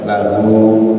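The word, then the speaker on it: لَهُ: Panjenengan ketika ada huruf H di akhir kata, kalau di depannya itu adalah tidak mati, tidak ada matnya, itu pasti membacanya panjang. Lahu, ya, bihi.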